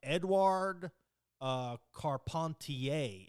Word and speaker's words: Edouard Carpentier: Edouard Carpentier is how it's pronounced.